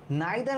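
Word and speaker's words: neither: type পড়ে ফেলছি দেখো নাইদার মিস্টার করে নরসি ফ্রেন্ডস দুইটা ব্যাপার নাইদার এবং নর অথবা কখনো কখনো আমরা দেখব যে তোমরা অনেকে এটাকে নিদার বল ইচ্ছা যে যেরকম উচ্চারণ করতে চান নেদার অফ দা বা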